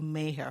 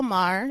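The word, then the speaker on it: Maher: stuff people like bill Mayer for example like you don't you never it's Bill Mah it's Bill Mah there you go correcting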